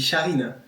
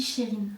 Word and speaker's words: Chérine: Depuis je dis Charine. Ah ouais. Parce que ça s'écrit Charine. Mais ça se s'écrit dit. même Charin, Ouais, mais ça se dit Chérine.